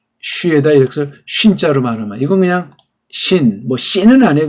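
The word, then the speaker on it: שין: 이걸 슈인 발음하면 안 돼. 이건 우리나라 모든 모음들은 단음이라고 하는 걸 상식으로 알아두세요. 이거 말하는 사람이 거의 없어요. 모든 모음들은 단음이다. 우리나라 21글자 모음이 있는데, 그래서 이거 쉰, 이렇게 표기해야 정확해요.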